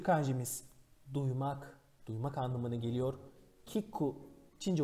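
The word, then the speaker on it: 聞く: Kiku, Çince okunuşu bun.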